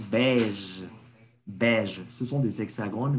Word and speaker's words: beige: On prononce beige.